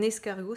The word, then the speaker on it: escargot: liaison c'est pas un escargot ses escargots s car go avec un thé à la fin qu'on entend pas et attention ne met